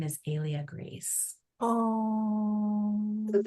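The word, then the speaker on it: Helia: And then later I realized that um so Alia is spelled H E L I A and it's Greek uh for sun, ray of sun, right?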